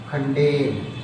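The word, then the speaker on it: condemn: ऐसे ही खंडेन, खंडेन की स्पेलिंग क्या होती है, CONDMN, बट M is silent.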